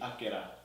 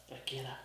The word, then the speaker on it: Akira: The Japanese language is all not monotone. I think the word is monotone, as in no syllables are extended. Yeah. Yeah, they're all the same length, so it'd be Akira. Akira.